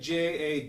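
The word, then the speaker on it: dza: So pa and ga, and when you play them together, you get ja, spelled D-Z-A, but pronounced like J-A, ja.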